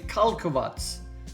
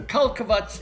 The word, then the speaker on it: Karlovac: And I can confirm I have been pronouncing this town and station incorrectly, and the best way to pronounce it from what I've researched is Karlovac. So Karlovac it is.